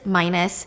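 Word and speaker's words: Minos: was marrying minus yeah I thought his name was pronounced MOS cuz that's how it's spelled but it's minus he was the king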